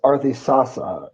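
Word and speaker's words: Ardhisasa: They're basically making an online system called actually it's this is pronounced Arthy Arthy um but it's Arthy Sasa U is the website and the um database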